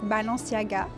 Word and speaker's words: Balenciaga: And the way to pronounce it, I would say in French, Balenciaga. So it's kind of close, but yeah.